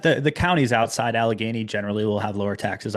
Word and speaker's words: Allegheny: and the county staying within, how do you pronounce it? Is it Allegheny Yep, yeah, Allegheny. Allegheny County, staying within that county, um obviously less tax.